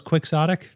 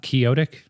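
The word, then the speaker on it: quixotic: So, turns out it was quicksodotic and not kyotic, as I so confidently asserted.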